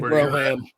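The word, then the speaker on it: Brougham: 59 Cadillac El Dorado broam or Broham whichever way you pronounce it definitely Broham it's a bro well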